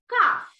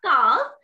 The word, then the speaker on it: calf: This is called calf. Okay, এটাকে আমরা calf বলি অনেকে, but this is not calf. The pronunciation is calf. C A L F, calf.